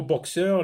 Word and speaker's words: boxeur: Dans le mot boxeur, la lettre X se prononce X.